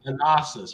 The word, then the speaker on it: Thanasis: You need to learn the way they pronounce their A's. What's his name? Thanasis, bro. Thanasis.